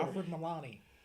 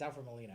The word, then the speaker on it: Alfred Molina: Alfred Milani. You just said Molina. It's Alfred Molina.